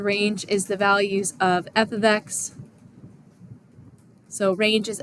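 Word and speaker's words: f(x): It's pronounced f of x. It does not mean like the f times the x.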